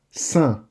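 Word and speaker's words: cent: Saint. The T is silent. Saint. And the C doesn't have a K sound in this word here, but a S sound, just like an S.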